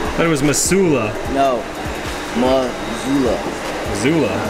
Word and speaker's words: Missoula: Turns out M-I-S-S-O-U-L-A is pronounced Missoula. But it was Missoula.